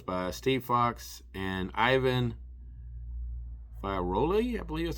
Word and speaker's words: Fiorelli: brought to us by Steve Foxe and Ivan Fiorelli, I believe that's how it's pronounced. It's Fiorelli.